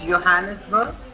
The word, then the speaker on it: Johannesburg: It's pronounced as Johannesburg. The J is pronounced as J. Right now.